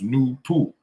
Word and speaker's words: Noopooh: The name NAY-TOO is spelled Noopooh and pronounced NAY-TOO. The H is silent and capitalized.